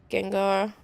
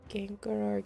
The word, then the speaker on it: Gengar: Gengar is actually how you say it. Gengar. Did I not pronounce the R enough? Genar.